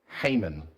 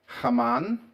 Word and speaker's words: Haman: guy, Haman. I think I've heard it pronounced Haman, um which probably is more uh accurate, but I've always grown up calling him Haman, which is very Aussie-sounding kind of pronunciation, right?